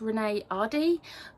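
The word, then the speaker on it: Renée Ahdieh: Okay so I did actually just look up the pronunciation and apparently it's Renee Ahdieh, um if that is wrong then I apologise, um but yeah I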